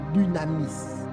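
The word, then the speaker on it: δύναμις: Le mot puissance dans ce texte vient du grec dynamis. Dynamis. Dynamis s'écrit D U N A M I S.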